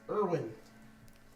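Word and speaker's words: Urwin: His name is Erwin.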